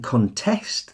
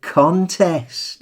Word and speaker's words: contest: Now, there are some words that, depending on which syllable you stress, can function as either a noun or a verb. Now, you can contest this, for instance.